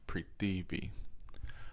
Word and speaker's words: Prithivi: So you can vibrate it like Pavritzivi. So I'm going to put the letters on the screen. It's kind of like pre D V, but it's not pronounced the way it looks.